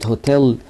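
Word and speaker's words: hotel: ركز معايا بقى كده، انت هنا قلت لي ان اور عشان الاتش سايلنت، قلت لي ان اونر لان الاتش سايلنت. طيب لكن تيجي عند كلمه هوتيل هتقول هوتيل لان الاتش هنا نطقناها.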